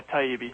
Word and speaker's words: Taibbi: Welcome, Matt Tybe. How's it going? Very well. I like listeners to get a feel. By the way, am I pronouncing your name correctly? Yeah. Yeah. Taibbe.